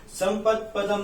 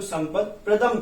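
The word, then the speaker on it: संपत्प्रदम्: संपत् पदम नहीं, यहाँ पर आपको संपत् प्रदम कर लेना चाहिए। संपत् प्रदम कैसे पढ़ेंगे, संपत् प्रदम, ये प्रा हो जाएगा।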